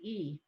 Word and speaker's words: ye: Sixth is ye, Y-E, pronounce it E.